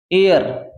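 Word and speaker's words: heir: कभी सुना होगा इसको बोलते हैं एयर इसमें एच साइलेंट है इसमें ए साइलेंट नहीं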